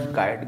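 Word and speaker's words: guide: क्यों, क्योंकि जो है जी का मतलब गा होता है, यू का ऊ होता है, आ लेकिन यू ऊ पढ़ा नहीं जा रहा था, जी यू मिला के गा ही पढ़ा जा रहा है, तो गाइड, ठीक है। तो जी यू से गा, तो यू साइलेंट है इसमें, इसलिए यू का कोई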